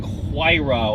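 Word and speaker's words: Huayra: have the Pagani HRA which is spelled h u a y r a so it kind of looks like HRA or H or as Jeremy Clarkson famously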